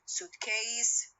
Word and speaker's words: suitcase: Two nouns, if the compound word consists of two nouns, so it normally has the stress on the first element.